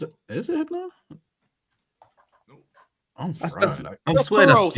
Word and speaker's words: Tauros: I'm Toros. It's Toros. It's Tauros. Thous% Toros. I I was Spell that for me.